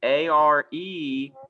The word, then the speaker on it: are: remember this word everybody a-r-e is r you only say that middle letter these are winter boots